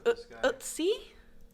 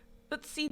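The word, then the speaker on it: Ötzi: But I wanted to do some research on a guy called, I think it's pronounced Utsi. Is he Turkish by any chance? No, he ain't Turkish. Utsi the Iceman.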